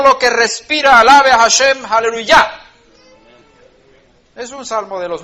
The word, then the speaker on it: aleluya: de luya n breves aleluya con el acento en la final aleluya alabar a dios en